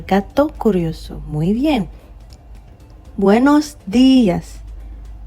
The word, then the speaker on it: días: Buenos días. Not buenos días or buenos días. Okay? Días. Because there's an accent on the I.